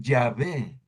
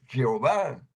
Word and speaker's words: Yahvé: Y sí, miren, eso es lo que quiere decir Yahvé. O como lo mal pronuncian los protestantes, Jehová.